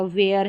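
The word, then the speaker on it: where: जैसे वॉट है तो H का उच्चारण नहीं हो रहा, वेयर है, वेन है, व्हील है, विच है, वीट है, वाई और वाइट, इन सभी में WH के बाद में AEI या Y लेटर है, तो यहाँ पर H का उच्चारण नहीं हो रहा है, ये साइलेंट रह रहा है, इसको हम प्रोनाउंस नहीं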